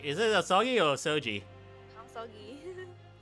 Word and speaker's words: Asogi: Kazuma Soji. I think it's Sogi. Is it Asogi or Soji? Asogi. If it's Japanese. Asogi. G-I is pronounced Gi.